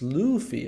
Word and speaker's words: Luffy: so I never know I was thought it was pronounced like Luffy but okay it's Luffy okay thank you all